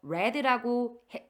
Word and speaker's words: read: 여기서 read라고 발음을 하셔야 돼요.